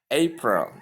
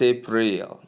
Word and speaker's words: April: April. Can you see that? Not April, or I don't know what people call it. These are two syllables. You can see the word April has two syllables, A and Pearl.